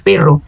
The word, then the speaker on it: perro: cachorro, a minha língua, se eu digo perro, ó, com doble, com a W R, a minha língua vibra mais forte, ó. Perro, perro, perro. Se do que se eu falasse pero, se eu falasse pero, somente, que significa mais pero, pero é mais sutil. Se vocês colocarem bem aqui o dedinho aqui na gar, vocês vão perceber. Pero, perro, pero, mais sutil, perro.